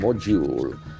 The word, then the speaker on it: module: The letter is D, but the sound is J.